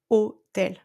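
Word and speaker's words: hôtel: So forget about the letter H. We don't pronounce it. Okay. So when you have hotel in English, we have hotel.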